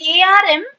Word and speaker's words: arm: So in ARM, R has to be silent. So it should not be RM. It is arm.